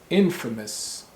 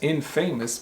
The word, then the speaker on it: infamous: the words famous and infamous famous and infamous and you might think infamous is pronounced in famous right i n then famous that's infamous but no in english is pronounced infamous infamous and this is confusing